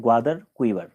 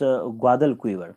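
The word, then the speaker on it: Guadalquivir: है यह रिवर है ग्वादर कुवर इस ग्वाद कुवर ग्वादर नहीं ग्वाद एल तो इस रिवर का नाम है ग्वाद कुवर तो यह हो गया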